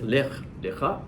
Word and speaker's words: Lech Lecha: D'abord, Lech Lecha, si vous regardez bien, on le prononce différemment, on dit Lech Lecha, mais ça s'écrit de la même manière.